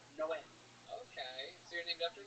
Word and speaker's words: Noé: Like in the Bible, the Spanish translation, it's Noe is Noah, but it's pronounced Noé.